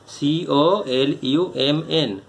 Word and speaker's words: column: FILL, fill in the blanks with the word given in the right hand column, COLUMN, column, এখানে এনের উচ্চারণ হবে না, of the above box.